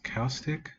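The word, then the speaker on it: caustic: can't pronounce that but it's spelled CA you like acoustic but with a c in front of it house kostik anyways so I'm gonna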